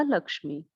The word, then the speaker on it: लक्ष्मी: जो भक्तिन का ये नाम था लक्ष्मी या लक्ष्मी, सही उच्चारण होता है इसका लक्ष्मी, वैसे उसको लक्ष्मीन कहते थे।